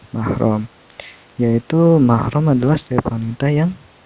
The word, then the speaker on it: mahram: muhrim sering kita Hai salah ucap mengenai mahram itu muhrim atau much minusnya yang menyebutnya itu muhrim bahwa mahromnya Harusnya mahrum kalau misalnya muhrim gitu orang yang sedang berpihak ROM jadi eh salah dalam pengucapannya yang benar itu yaitu mahram yaitu mahram adalah Stefan